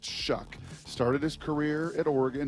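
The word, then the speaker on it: Shough: s h u g h and it's actually pronounced shuck started his career at Oregon he was a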